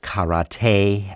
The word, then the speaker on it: karate: to kick each other actually it's pronounced karate and there's a lot